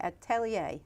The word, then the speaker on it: atelier: that word again wrong at telly eh yeah it's just French for workshop essentially we go to